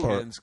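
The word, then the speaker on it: Cairns: so can film festival can is uh in up by the great Barry Reef it's spelled car oh okay okay never mind it's can so uh yeah we're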